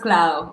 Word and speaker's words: Claude: oh good oh good it's pronounced cloud or is okay Club